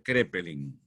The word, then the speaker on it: Kraepelin: psiquiatras han sido alemanes, Kraepelin con K, que se pronuncia Kraepelin.